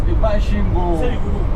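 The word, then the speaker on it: Masvingo: Mashvingo. It's pronounced Mashingo.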